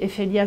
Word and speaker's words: Efelia: Alors, ces projets sont nés, en fait, donc Efelia, c'est la société de conseil. Et là, j'ai développé aussi ma propre collection qui s'appelle F-ELIA. Et ce sont des... Qui se prononcent pareil, du coup.